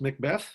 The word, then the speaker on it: McBeath: watching this it's it's pronounced Macbeth Oh like death and if you want